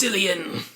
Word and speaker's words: Cillian: It's pronounced Cillian.